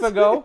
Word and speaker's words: Fagot: Just say Fagot. Yes. Don't pronounce the T at the end, please.